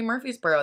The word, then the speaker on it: Murfreesboro: here you just say Murphy's Boro that R the extra R that's in there doesn't really exist in my world um